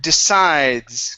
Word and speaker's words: decides: Let's go to The word decides. Okay, make sure to pronounce this S on the end.